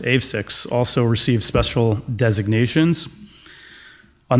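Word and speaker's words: AveXis: And then Lion, Juventus, and I believe it's pronounced AVSIX, also received special designations.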